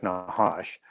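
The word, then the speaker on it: נחש: Yeah, we pronounce it Nakash. The Hebrew Right. pronunciation would be more like Nahash.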